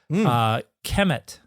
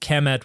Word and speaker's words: Kemet: the end was dropped, and so Kemet would have been pronounced Chemi, and then the E dropped off, and so Kemet, which